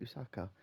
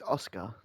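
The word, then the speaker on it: Asuka: Oscar isn't it Oscar I don't know why I keep saying usaka it's Oscar that's it I'm terrible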